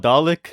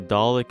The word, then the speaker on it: Dalek: Dalek?